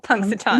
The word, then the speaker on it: Punxsutawney: I literally wrote it out phonetically. So, Punxsutawney.